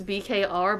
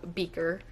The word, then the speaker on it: BKR: And at first, I thought you pronounced this BKR, but apparently it's called Beaker, which actually makes more sense now that I think about it.